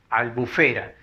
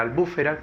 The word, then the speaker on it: albufera: Y por último, la última palabra es albufera, aunque algunas personas la confunden con la palabra albúfera, que no existe. La palabra correcta es albufera. Albufera es albufera. Como es grave, que termina en vocal, tampoco lleva tilde.